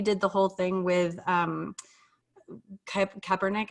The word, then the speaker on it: Kaepernick: Like your job is to like, remember when Nike did the whole thing with Kaepernick, I think is how you say his last name.